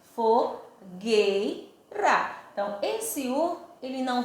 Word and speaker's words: fogueira: a palavra fogueira eu não falo se Ei o som se eu não for não sei fogo eira não pronuncia a palavra fogo leira a palavra é fogueira Então esse um ele